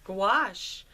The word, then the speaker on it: gouache: what I want to explore is gche gouache gouache what is it how to use it how